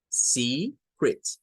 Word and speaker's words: secret: Entonces, la segunda sílaba se va a pronunciar como crit. Crit. Crit. Secret. Secret. No es pensando como que son E. No es el sonido epsilon, no es el sonido E, no es ese el que debemos de gesticular.